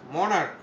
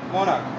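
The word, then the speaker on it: monarch: আচ্ছা, আরেকটা দেখায়, মনার্ক, এটা কর মতন উচ্চারণ হতে দেখি, কর মতন উচ্চারণ যদি হয় তাহলে আমার কি ব্যবহার করতে হবে? এস, মনার্ক। আচ্ছা, এরকম যদি থাকে তাহলে আমরা কি ব্যবহার করব? এস ব্যবহার করব যদি কয়ের মতন উচ্চারণ হয়।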